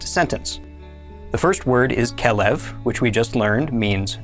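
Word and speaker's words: כֶּלֶב: Notice that the kaf has a dagesh, so it makes the k sound, while the beit does not have a dagesh, so it makes a v sound. This word is pronounced kelev.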